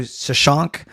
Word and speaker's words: Shashank: Yeah, he's explaining it as Shawshank without the W and pronounced like that. So shout out to Shashank, who we sat with.